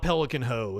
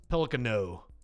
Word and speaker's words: Pelicano: There's no H in there. You're not Pelican Ho. It's Pelicano.